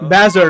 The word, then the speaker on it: Bazzard: Bazzard, okay, that's how you say it, Bazzard.